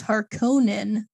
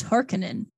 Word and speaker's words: Harkonnen: bald um oh apparently the name pronunciation is different so in 1984 was harkonnen and in 2021 it's hearkening oh make it roll